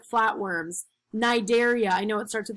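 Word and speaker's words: Cnidaria: classroom so the platyhelminthes these are like flatworms nigeria i know it starts at the sea but it's pronounced night area this is like jellyfish and coral moleska snails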